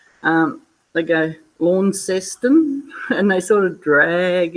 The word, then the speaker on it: Launceston: brought up to say Launceston, and it's spelled L-A-U, and the A-U sounds like an O. And God, the people up here call it all sorts of weird names. They go Launceston, and they sort of drag it out.